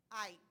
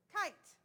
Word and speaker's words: kite: Here's what I'm going to do. I'm going to add a silent E to the end. That silent E doesn't say anything, but it's going to make that I, instead of I, now it says I.